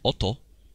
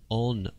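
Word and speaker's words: 音: brackets here, this is this kanji is pronounced as, well, it's oto. This means sound. All right, this is a good word to learn. But here we read it as on, okay?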